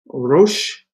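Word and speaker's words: ראש: Rosh, remember our aleph is silent.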